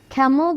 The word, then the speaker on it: Camel: তো খেইনের জন্য এই আইপিএস সিম্বলটা প্রয়োজন, কিন্তু যখন আমরা ক্যামেল বলছি তখন এই এ সাউন্ড, এ ক্যামেল। তাহলে খেইন ক্যামেল। দেখো জাস্ট একটা এল এসেছে, এখানেই উচ্চারণটা কত ডিফারেন্ট হয়ে গেল, রাইট?